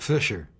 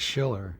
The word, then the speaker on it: Schiller: And for the first 6 months, Desi never could say my name right. Called me Bob Fisher. So one night we got the cards like they have at football games, and held it up. It said Schiller, and he got it.